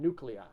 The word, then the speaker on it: nuclei: person is glutei and nuclei. Now these are 3-syllable words, and the 2-letter phonogram EI would not be used here.